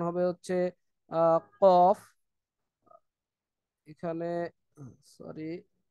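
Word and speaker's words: كاف: উচ্চারণ হয় তারপর হচ্ছে জিহ্বার গোড়া একটু আগে বাড়িয়ে তার বরাবর উপরে তালুর সঙ্গে লাগিয়ে এই কাফ এটা উচ্চারণ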